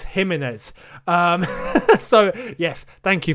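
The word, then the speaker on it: Jiménez: much for those that reminded me of the pronunciation of his name it's not gimenez it's him in it um so yes thank you for that guys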